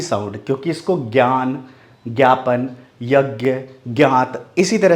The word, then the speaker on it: ज्ञान: बोला जाता है इसको ज्ञापन बोला जाता है ज ञ का साउंड आता है बिल्कुल नहीं आता वहां पर क्या पढ़ा जाता है ज्ञान ज्ञापन यज्ञ यज्ञ ठीक है कुछ संस्कृत के शब्दों में इस तरह से आता है बट वो बहुत कम है 10 से 15 पर 20 पर ही ज का साउंड करता है ज्यादा तर किसका साउंड करता है ज्ञ का ठीक है शायद आपको इस